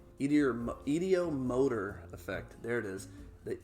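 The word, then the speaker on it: ideomotor: It's called the ediometer. idiomotor effect.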